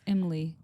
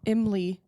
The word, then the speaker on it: Imli: It's actually pronounced more. It's Imli. Imli. It sounds like trying to say Emily with like a Southern accent.